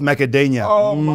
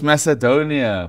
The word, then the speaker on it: Macedonia: you one lvia versus North macadonia Macadamia is peanuts dog what you North Macadamia is Republic no it's Macedonia oh my dog pronunciation